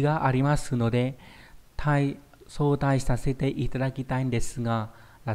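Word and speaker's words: 早退: Đọc là sotai.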